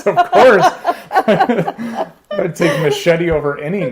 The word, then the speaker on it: Mascetti: It could be machete like the knife. That's the official name, but people Americanize it Italian? as Mascetti. Yeah. Oh, really? I prefer machete.